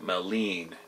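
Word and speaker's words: Maligne: fairies little people there's a mythology of malign pronounced meleen Canyon and Jasper National Park being the location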